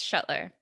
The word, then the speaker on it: Schuttler: Is it Schuttler? Is that how you say it? Yes, Schuttler.